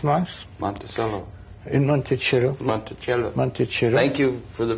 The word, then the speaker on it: Monticello: Monticello. Thank you for the pronunciation correction.